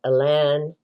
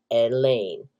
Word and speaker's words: Elain: Yes, I pronounce it Elan because my name is Elaine and I know how to spell my own name. And there's an e at the end. I don't care if the AI tells you it's pronounced Elaine. It is not.